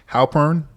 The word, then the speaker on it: Halpern: Make sure I pronounce it right. Halpern.